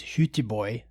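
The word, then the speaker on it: Göteborg: to um the the the native pronunciation is Huty Boy uh which is Goththingberg, Sweden. And so we went in 2011.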